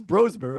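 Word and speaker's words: Brosmer: People were talking up Max Broer. Apparently that's how it's pronounced.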